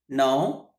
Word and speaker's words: know: Now, new, noun. No, new, noun. No, new, noun. No, new, noun. Here K is silent.